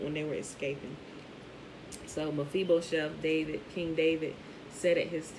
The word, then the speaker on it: Mephibosheth: That's why Jonathan didn't kill Mephibosheth, right? I think that's how you pronounce it, Mephibosheth.